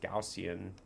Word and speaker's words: Gaussian: Now, taking a look at the Gaussian, it's pronounced Gaussian uh channel on the weekly.